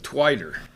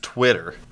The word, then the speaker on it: Twitter: hey Matt what's the deal with twiter actually Fred it's pronounced Twitter it's a social media platform so you can